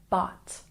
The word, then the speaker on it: bought: It's not boot, it's bought. Bought.